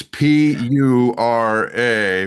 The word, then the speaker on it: Pura: It's P U R A because he's saying it the correct way but we would probably spell it differently.